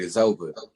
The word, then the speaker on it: Izova: and he was like man your name should just be it's over and uh the spelling was different but i wrote it down start playing with the the words i changed the the the pronunciation and i changed the uh the spelling and i came up with is over also added the chemist